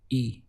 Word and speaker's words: y: say I need necesito the word for and in Spanish is e written as a Y and the sound is simply e how would you say